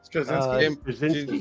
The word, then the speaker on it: Straczynski: Straczynski, yep.